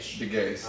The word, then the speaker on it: DeGace: How do you pronounce his last name? DeGace.